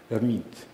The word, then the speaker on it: Hermite: Hermite, after the great French mathematician Charles Hermite. But in French, H is not pronounced, so we call this gentleman Hermite.